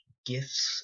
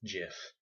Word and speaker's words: GIF: Apparently, the creator, Wilhite, says it's pronounced GIF. I refuse to believe that. Graphical is a hard G, so it's GIF, in my opinion.